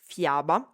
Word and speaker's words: fiaba: Fiaba has the sound ya, so fiaba.